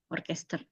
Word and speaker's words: Orchester: Ini sama ya bacanya orkester.